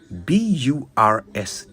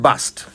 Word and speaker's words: burst: bit of pronunciation now the word I just used was burst B Ur St T burst not bust burst means to suddenly